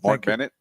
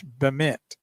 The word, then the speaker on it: Bement: Mark Bennett. Is that how you say it? It's Bement. That's what I said.